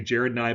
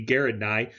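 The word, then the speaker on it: Gerald Nye: senator garrett nye okay most people say jared nye but it's actually a hard g garrett nye he's a republican from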